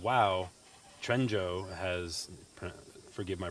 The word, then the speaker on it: Quanzhou: it's Quanzhou.